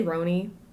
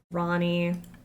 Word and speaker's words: Ronnie: Did I say Ro? Not Ro. Ronnie.